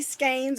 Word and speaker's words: skein: Our November giveaway, you're getting 3 skeins, or skeins, depending how it's pronounced. I'm from the South, we say skein.